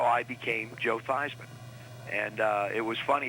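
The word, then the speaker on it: Theismann: we think by just simply changing the pronunciation for your last name from thieves into thighs and to ryan with heisman we can get you that trophy and that's how i became joe feisman and uh it was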